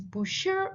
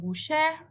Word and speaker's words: Bushehr: Examples like pronunciation of the name of the city is Bushehr instead of Bushehr, Yazd instead of Yazd, which is the way that they would hear the word in people's accents from the cities and regions.